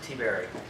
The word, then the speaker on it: Tiberi: I pronounce it Tiberi. But Tiberi's fine too. I've been called a lot worse.